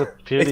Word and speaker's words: PewDiePie: I was laughing at Sean's pronunciation of PewDiePie. Is that wrong? It's PewDiePie.